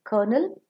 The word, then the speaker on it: colonel: dash is very sweet c-o-l-o-m-e-l kernel is a military header and k-e-r-n-a-l kernel is